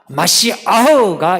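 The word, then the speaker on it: מָשִׁיחַ: 메시아는 아람어고요. 마시아흐가 히브리어입니다. 그래서 요즘은 히브리어를 더 우선시해요. 그래서 발음을 메시아라 하지 않고 그냥 마시아흐 이렇게 부르는 사람이 많아요.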